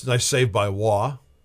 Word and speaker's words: Roy: It's a nice save by Wah spelled Roy pronounced Wah.